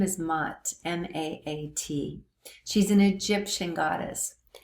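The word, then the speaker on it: Maat: Okay, so the second goddess is a little more known, and her name is MOTT, M-A-A-T. She's an Egyptian goddess, and a very, very revered goddess. And some people say that MOTT was like these laws.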